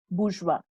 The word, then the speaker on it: bourgeois: So the first one is your bush, which is in singular, it is bourgeois. That is how you pronounce it, bourgeois.